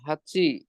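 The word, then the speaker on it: はち: ও itchy নি সান ইয়ন গো রকু নানা হাচি রকু জু।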